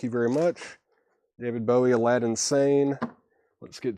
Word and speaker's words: Aladdin Sane: Rebecca Barber, that was Aladdin Sane, or pronounced Alad Insane. Aladdin Sane, kind of a play on words there.